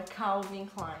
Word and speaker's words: Calvin Klein: Tá, são Kevin e Calvin. Então é Calvin Klein.